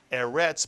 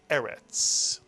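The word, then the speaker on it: ארץ: Please remember that a word with two segols tends to be accented on the first syllable. So this is not eretz, but eretz, mitsuyan.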